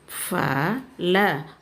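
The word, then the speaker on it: फल: ப ல பல் சி ஃப ல ஃபல் லாஸ்ட் லெட்டர் இஸ் ல யூ shouldுட் say last letter as இல் ஃப ல ஃபல் ஃபல் மீன்ஸ் ஃப்ரூட்ஸ் ப ல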